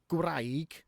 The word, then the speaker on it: gwraig: Then you hit the wall of gwraig, wife. One of the only words in Welsh that actually rhymes with gwraig is craig, which is rock.